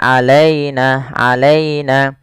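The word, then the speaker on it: عَلَيْنَا: Dan sempurnakan di lafal ya-nya, jangan sampai terdengar huruf e. Misalnya alaina, tapi dia terdengar dengan i. Alaina.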